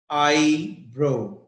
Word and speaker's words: eyebrow: The word is eyebrow, eyebrow, eyebrow, eyebrow, eyebrows, eyebrows. Yes, the stress is on eye.